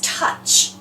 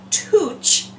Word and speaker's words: touch: CH that word is touch and look at the oh you we don't say ouch we don't say touch we say touch and that oh you